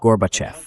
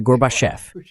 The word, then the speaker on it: Gorbachev: Então eu disse: "É fácil, senhor vice-presidente. Diga garbage." Ele diz garbage. Agora diga off. Off. Agora pronuncie off como a parte acentuada e diga tudo junto. Gorbchev. Você acertou, senhor vice-presidente. É Gorbachef.